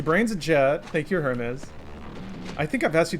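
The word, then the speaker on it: Hermès: The brand is pronounced like Hermes. It's a French brand. You don't pronounce the H.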